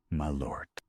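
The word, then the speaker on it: Malört: In Chicago, people say Jeepson's my lord. In I'm not pronouncing it weird. That's how they say it in Chicago. Most locals pronounce it with a very hard O sound.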